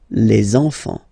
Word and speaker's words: les enfants: So you should make the little link. Les enfants.